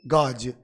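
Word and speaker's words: gauge: गॉज, GAUG। इसका सही pronunciation होता है गाज।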